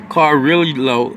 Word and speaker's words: Carrillo: Carrillo, but two L's together pronounce a Y sound for Spanish.